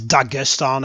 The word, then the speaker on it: Dagestan: situation here in Dagestan it's Dagestan actually if you want to pronounce it correctly hell